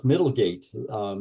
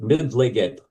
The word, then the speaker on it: Middlegate: And if I have the English language on, it always pronounces it mid-legged. So I don't know why it doesn't do Middlegate proper.